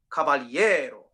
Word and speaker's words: caballero: that we would speak it is caballero caballero so the rhythm is not exactly as written right and so what you'll notice is those last two notes are not even eighth notes the stress syllable is a little longer and so basically the formula that she came up with instead of two eighth notes think of it as three triplets but the stressed syllable which is the second to last syllable gets the first two